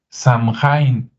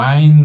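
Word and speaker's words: Samhain: aquí un acordeón que se escribe de una manera pero se pronuncia de otra se escribe Sam hain así como Sam de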